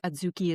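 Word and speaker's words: adzuki: It's spelled A D Z U KI. Aduki beans.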